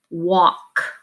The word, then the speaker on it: walk: don't pronounce it that this al is actually making the sound aw walk so even though it